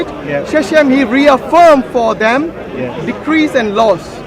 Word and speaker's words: Shechem: Shechem, how you say it? Yeah. Shechem, he reaffirmed for them Yeah.